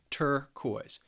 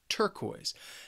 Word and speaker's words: turquoise: Now, turquoise has two syllables and the stress is on the first syllable. Turquoise. Turquoise.